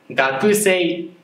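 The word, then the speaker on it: 学生: 発音は、学生というふうに言います。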